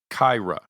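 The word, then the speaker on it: Qi'ra: in a dramatic fashion the name of Amelia Clark's character in Solo a Star Wars story is pronounced Kyra the Q I in English is pronounced with the TJ sound as in cheese and the I sound as in sheep Finn you're getting different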